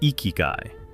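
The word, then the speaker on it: ikigai: The Japanese antidote is ikiguai, pronounced ikyu.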